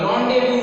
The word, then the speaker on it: rendezvous: Rendezvous with Simi Garewal. Rendezvous means meeting. Okay, so it is RENDEZVOUS. Rendezvous. The correct pronunciation is rendezvous.